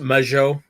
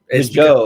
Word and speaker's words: Mageau: So I got my first guest, Mageau, aka sort of the. How's it going? Yeah, I'm doing pretty good. And it's pronounced Mageau. Mageau, okay. You got to get that little French bit.